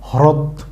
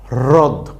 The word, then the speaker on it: হ্রদ: হচ্ছে কি রদ তো এই রদ বানান পড়তে গিয়ে যদি আমরা সঠিকভাবে হ র ফলান উচ্চারণ না করি তখন আমরা কি বলবো হ্রদ কিন্তু যেটা হবে ভুল তাইলে আমরা হ রফলা দ এই শব্দটাকে কি পড়বো রদ রদ ওকে ফ্রেন্ডস আশা করি